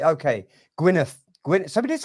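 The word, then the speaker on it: Gwynedd: how would you spell how would you pronounce Gwyneth it's not guinnard Gwyneth not Palace not pembrokeshia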